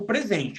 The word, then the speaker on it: present: Existe o verbo apresentar e existe o substantivo presente. O que você ganha no Natal, o que você ganha no seu aniversário. E escreve igual no inglês. Escreve desse jeito aqui, ó. Mas a pronúncia muda. Quando você ganha um presente, ou seja, você abre um pacote, tem uma coisa legal dentro que estão te dando, é um present.